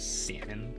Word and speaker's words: salmon: and everyone else says salmon because like there's an L in there. Like, why would you put an L in there and not say it?